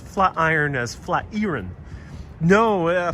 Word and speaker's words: Flatiron: No, Flatiron is not some old Dutch name. Flatiron is quite literally named after a flat iron. What you use to, press your clothes. So yes, it is pronounced flat iron.